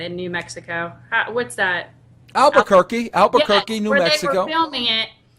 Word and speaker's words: Albuquerque: you say it in New Mexico what's that Albuquerque Albuquerque New Mexico filming it so I just